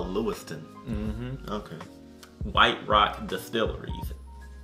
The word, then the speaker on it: Lewiston: in a distillery in lewistown maine and i may have pronounced that wrong but let me just check my trusty telephone and see yep lewistown lewiston maine oh lewiston mm-hmm okay white rock